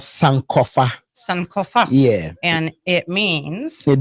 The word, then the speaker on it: Sankofa: your your album coming out um would you pronounce it because it's called some Kofa Sankofa yeah and it means it means go back